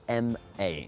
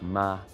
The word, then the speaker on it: ma: We're going to use the example of M-A in pinyin, which is pronounced ma, ma.